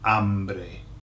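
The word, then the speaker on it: hambre: the H pronounced okay the H is silent it's just there just there it's just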